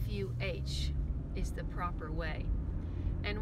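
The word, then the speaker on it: phở: eating it on the menu it says to pronounce fo like f fu is the proper way and when the girls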